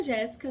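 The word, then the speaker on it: Jésica: Sim, se escreve com Só, mas pronuncia Jéssica normal, como se fosse dois Ss.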